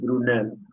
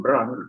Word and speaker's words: Brunel: no es el bramel este es brunel los ingleses lo pronuncian bramel pero el apellido es francés su padre era francés originario de normandía fue